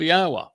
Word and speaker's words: Yahweh: And therefore it tells us how to pronounce the first and last syllable of Yahweh. Yah and Ah.